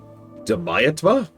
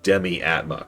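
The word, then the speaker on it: Demiatma: Deiatma. Demiata. Deatma. It took a moment for me to realize it's literally just demiattma crashed together.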